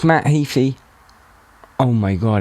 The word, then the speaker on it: Heafy: Because I thought I had it right, and then I've seen that you pronounce it differently. Everyone always says Heafy. I never correct them. It's actually Heafy.